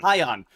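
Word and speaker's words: Hyan: Instead, we got Maya World and Heian, or Heian, Hi on. Heian. Uh, Rhymes with Ryan.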